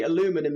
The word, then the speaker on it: aluminum: saying aluminum and then i learned that actually aluminum is the correct pronunciation and british people have been saying it wrong for all these years obviously i say aluminium i know aluminum is actually the correct now i hate vitamin